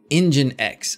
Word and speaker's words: nginx: just take this out it's pronounced engine x oh that makes sense